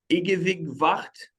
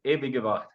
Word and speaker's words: Ewige Wacht: I'm going to try to pronounce it. Ewig Wacht. Is it close enough? Nearly, yes. Ewige Wacht.